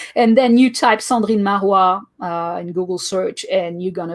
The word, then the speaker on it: Cendrine Marrouat: But if that's the case, then I'll have to use, and I'll never be able to pronounce it, so maybe that won't work. But Cendrine Marrouat.